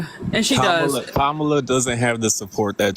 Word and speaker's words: Kamala: why you said it like that but it's Kamala you should be able to say okay okay